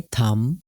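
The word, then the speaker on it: thumb: और दूसरा है थम, टॉम, डेथ, यहाँ भी बी साइलेंट रहेगा, डेप नहीं होगा बल्कि होगा डेथ।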